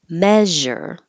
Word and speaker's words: measure: okay entrepreneur U entrepreneur measure measure you need the vowel e as in head and you need with lots of air flow which is different than